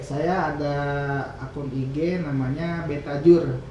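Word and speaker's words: Betajoer: Kalau untuk di IG saya ada akun IG namanya Betajur. Betajur. U-nya pakai OE. Ini lama ejaan lama.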